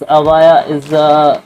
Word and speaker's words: Evija: In this video, I'm going to share all upcoming cars to Lotus Avaya, which is pronounced Avaya, is unique and powerful car.